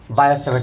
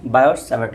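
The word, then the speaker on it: Biot–Savart: वाले हो क्या पढ़ेंगे, बायो-सैवर्ट लॉ के बारे में, BIOT, ठीक है ना, बायो-सैवर्ट लॉ। देखिए ये जो है ना, ये टी साइलेंट है, ठीक है ना, इसमें क्या बोलते हैं, बायो-सैवर्ट लॉ, ठीक है ना।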